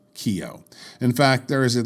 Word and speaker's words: Kio: and some were not in Russian a movie theater is called a Kino theater or or often Kino for short if the N is not illuminated then you get Kio that is the official